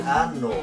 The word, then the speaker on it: ano: por esos orificios año Pues en portugués se pronuncia ano Entonces si escuchan esa